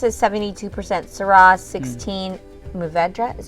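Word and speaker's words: Mourvèdre: usually so this is 72 percent syrah 16 muvedra is how you say it yep and then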